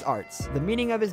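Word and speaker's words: Aretz: Once you read his last name, Arts, it looks like it will be pronounced something like Arts, but that's not how it's actually pronounced. You simply need to pronounce it as Arts.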